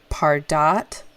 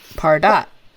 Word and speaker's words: Pardot: Pardot. Like Pardot. emphasis on the second syllable.